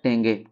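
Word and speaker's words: tenge: और कजाकिस्तान का राजधानी आपका करेंसी जो है टेंगे टेंग टी ई एन जी ई टेंगे तुर्कमेनिस्तान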